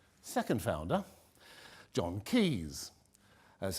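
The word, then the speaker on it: Caius: apothecaries like in Italy right second founder John Key's that's how it's pronounced Padua MD 5041 and when he comes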